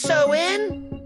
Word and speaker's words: Samhain: The roots of this spooky holiday go way back to an ancient Celtic festival called that spelled sm and pronounced so in around 2,000 years ago in what we now know as Ireland in the UK.